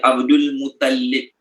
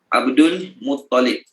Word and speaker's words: Abdul Muttalib: Kalau Muttalib tu, kita letak lam dekat sabdu atas lam. Salah lah.